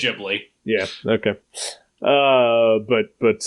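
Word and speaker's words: Ghibli: like all the studio gibl movies or whatever that's pronounced yeah I think it's jibi yeah okay uh but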